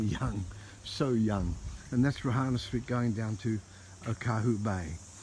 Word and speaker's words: Reihana Street: i was only young so young and that's rohana street going down to okahu bay so the correct pronunciation is rohana street or rk alrighty and so i just wanted